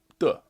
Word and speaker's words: 地: today is the or duh actually is how it's pronounced when it's a particle well it's a helper